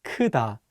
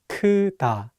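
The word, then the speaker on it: 크다: example is the word Kuda which means to be big again be careful with the first syllable it's not pronounced like coup listen one more time kuta one last example is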